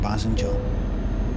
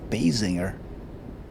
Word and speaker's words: Basinger: Not Michelle Pfeiffer, Kim Basinger. Or as Americans say, Basinger.